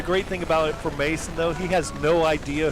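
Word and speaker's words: Maassen: Mason these guys all and he it's m pronounced Mason and it's another one that walks out there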